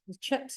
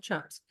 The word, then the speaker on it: chips: some CH some chips chips is how you say it not chaps and then he was